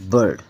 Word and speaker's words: bird: देखो आई है, आई के बाद आर आया है, इसलिए ये छोटे। अब आई अपनी प्रोनाउंसिएशन, इसकी सॉफ्ट साउंड खत्म हो गई है, अब क्या है, हार्ड साउंड है, बर्ड, आ के बाद दे रहा है।